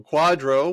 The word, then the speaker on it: QDRO: Quadro I mean okay so Quadro which is spelled qdro stands for qualified Domestic